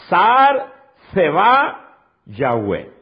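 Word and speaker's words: שר צבא יהוה: La palabra hebrea es Shar Seba Yahweh. Ahí abajo está, para vosotros, hermanos míos, príncipe de, comandante de, el ejército o huestes de Yahweh. Otra vez, ¿cómo se pronuncia? Shar Seba Yahweh.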